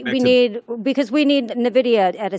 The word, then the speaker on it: Nvidia: Nvidia, according to our production crew that corrected me.